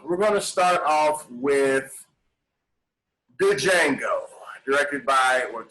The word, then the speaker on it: Django: gonna start off with django directed by what django i know it's pronounced uh quentin tarantino starring jamie foxx leonardo dicaprio christopher waltz the d is silent i'm aware i lose